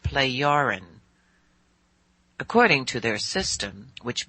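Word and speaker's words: Plejaren: But it is pronounced playarin.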